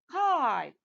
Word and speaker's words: kite: Okay, when I add silent E at the end, the vowel letter will take the long sound. That's right. Okay, so the word becomes kite, kit and kite.